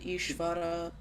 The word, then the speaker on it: Ishvara: We should actually be saying Dwaraka and Ishvara. Yeah, what you are saying is, because in English, I was reading that point even, especially the non-Indian, devotees, when they try pronouncing va, so it comes out like this, the pronunciation of W. And that is a little different from the va sound, the actual va sound.